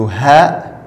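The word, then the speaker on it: ه: Et la lettre suivante, c'est le ha, ha, comme le H en anglais, comme house, home, ha.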